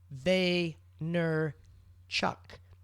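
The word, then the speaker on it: Vaynerchuk: terrible name pronouncing um the reason I know how to pronounce Gary Vayner Chuck's name is because that's how he introduces hi I'm Gary they ner Chuck at the beginning of every wor I mean the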